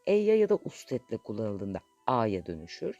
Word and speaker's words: ha: El, e'ye ya da ustetle kullanıldığında a'ya dönüşür. Yani he a diye yazılır ama a diye okunur.